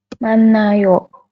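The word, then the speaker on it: 많아요: manayo seperti ini manayo Kenapa kok jadi manayo kan hiatnya diabaikan nih jadi dianggap tidak ada nanti untuk nnya boleh digabung ke vokal a seperti itu jadi manayo ya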